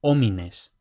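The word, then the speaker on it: homines: Luego la h igual que en español es muda, es decir, no suena. por ejemplo, omines, aunque es posible que por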